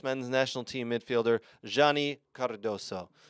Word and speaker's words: Cardoso: men's national team midfielder Johnny Cardoso. You got to put the inflection in the roll your R's, Cardoso.